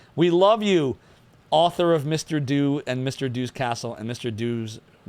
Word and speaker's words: Mr. Do: Do as in do it live.